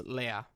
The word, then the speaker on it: Lea: review live, which is Leia and I. I thought it was Leah and I, and then... I think it is Leah and I. No, it's Leia. Is it? Yeah, because she's French.